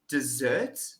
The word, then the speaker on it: dessert: May I please have some dessert?